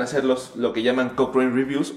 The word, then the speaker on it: Cochrane: Cochrane se escribe C-O-C-H-R-A-N-E.